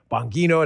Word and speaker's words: Bongino: I mean, but imagine having a name like Bongino. People always screw that up. They put a J in there. Bongino. They say it wrong.